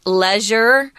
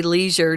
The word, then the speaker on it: leisure: I've also heard this word pronounced leisure. Most of us in America America say leisure, just so you know.